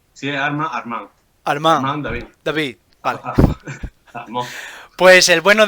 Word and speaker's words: Armand David: Bien, En francés hazlo todo agudo. Si es Armand. Armand David.